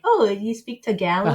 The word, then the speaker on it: Tagalog: the the dialogue okay so a white person would pronounce it take a look no I'm not gonna say that I can't no but in the Philippines the vowels are very blunt so it's Tagalog Tagalog yes very good yeah